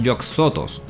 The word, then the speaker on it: Yog-Sothoth: También en todas las traducciones que he visto lo llaman Yog-Sothoth, no Yog-Sothoth. Al parecer es una mala pronunciación, pero su nombre es Yog-Sothoth, porque se inspira en Yog-Sothoth, una entidad Lovecraftiana.